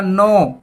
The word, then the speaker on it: know: देखिए KNOW बोला जाएगा नो, तो के साइलेंट, नो मतलब जानना, और इसी की सेकंड फॉर्म भी होती है न्यू, जाना।